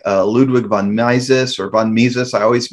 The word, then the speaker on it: Mises: be friedrich hayek uh ludwig von naisis or von mises i always mispronounced that one these austrian economists who said